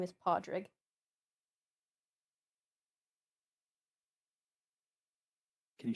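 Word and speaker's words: Pádraig: His name is Padre. Can you spell that?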